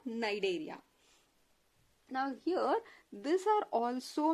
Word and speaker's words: Cnidaria: Here C is silent. You can pronounce it as Cnidaria or Cnidaria.